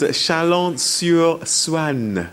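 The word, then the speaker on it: Chalon-sur-Saône: Yeah, we're in a little town called Chalon sur Saòne.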